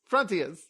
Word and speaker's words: Frontios: That's the end of Frontios. I said it right that time. We're gonna take Frontios. God damn it! No, it's Frontios.